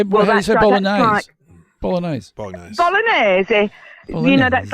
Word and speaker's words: Bolognese: How do you say bolognese?